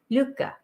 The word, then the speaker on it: Lykke: And so Lykke is pronounced Lykke. It's kind of like it rhymes with hygge, Hygge, which is that